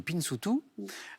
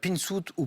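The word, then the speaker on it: pinzutu: À quelle île de la Méditerranée associe-t-on le régionalisme Pinsoutou? Pinsout ou Pinsoutou, hein, les deux prononciations sont acceptées, nouvellement entrées au dictionnaire, qui désigne un vacancier venu du continent.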